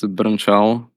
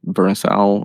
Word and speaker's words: Brnčal: I mean, it's Brnčal, but I mean, you can pronounce it like Brnčal or something like that.